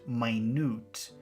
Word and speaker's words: minute: means 60 seconds but if you pronounce it minute that means very detailed or very small so this is I